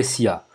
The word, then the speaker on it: SEA: le SEO et le SIA. D'accord? Ou SEA, si vous voulez, en français. On a l'habitude de prononcer SIA en anglais, et puis voilà, on va prononcer ça comme ça dans cette vidéo.